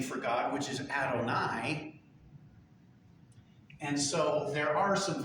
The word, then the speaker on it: Adonai: When you're reading along, and you come up with those 4 letters, you say the word Adonai.